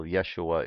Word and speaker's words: Yeshua: the period was Yeshua the first sound of the second syllable Yeshua ish sound it is represented by the Hebrew letter shin however Greek like many